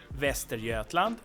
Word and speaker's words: Västergötland: have two landskap again Västergötland and Östergötland and they are kind of okay like in terms of pronunciation. We have that soft G there and so on but